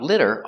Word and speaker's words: litter: Use the short sound, I, I. It's short and the sound is lower.